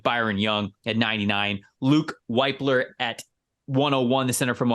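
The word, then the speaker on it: Wypler: I mean, but honestly, yeah, it's pronounced Whippler. Okay. Because that would have driven me nuts for the next 3 months. Cool Whip. Yeah, cool Whippler.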